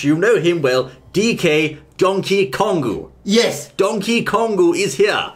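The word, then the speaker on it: ドンキーコング: is Donkey Kong but in Japan as you can see there we have a Katakana once again and an extended pronunciation Mark after the key part meaning we're going to say donkey kongu ah donkey kongu this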